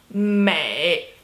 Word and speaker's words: 美: It is 美, third tone, 美, 美。You're very beautiful, 你很美。你很美。你很美。Third tone, third tone, third tone, okay.